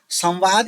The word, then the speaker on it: संवाद: संवाद है ना संवाद संवाद में क्या है बच्चों व है ना व का व से पहले अनुस्वार है कि नहीं व से पहले अनुस्वार है तो ऐसी कंडी कंडीशन में व जो है व का उच्चारण कितने बार करना है? दो बार। द्व ओष्ठ में दो बार कर रखा है। संवाद संवाद दो बार आ रहा है ना?